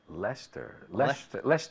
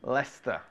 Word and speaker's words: Leicester: Leicester, right? Leicester. Leicester Square. No, I've never been to Leicester Square.